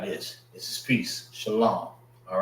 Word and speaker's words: Shalom: Shalom. All right. So, sha l this is pronounced by itself.